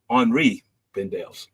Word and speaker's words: Henri Bendel: I remembered about it's Henri Bendels. Yes, that's right. French. That's the correct French pronunciation.